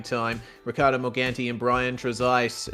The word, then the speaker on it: Trezise: Ricardo Morganti and Brian Trezise, and that is indeed how his name is pronounced. He told us this afternoon. We've been getting it wrong for so long.